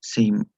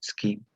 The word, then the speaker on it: scheme: In one of his slides, he said he pronounced the word as seam, even though it had to be pronounced as scheme.